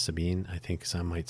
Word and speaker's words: Sabine: Yes, I think it's Sabine. I uh I think the German pronunciation is Sabine. I think some might say Sabina, but I think it's Sabine.